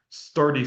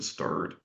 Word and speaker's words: STERDY: And that's a placeholder so that it's not sturdy sounds better than stirred. Sturdy is like strong, right? Stirred is just almost rhymes with turd.